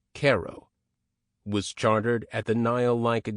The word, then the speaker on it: Cairo: In 1837, the town of Cairo, pronounced Cairo, was chartered at the Nile-like delta where the Ohio joins the Mississippi.